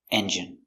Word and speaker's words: engine: Pronunciation engine. E. N J-J strong J. I engine stress on the first syllable.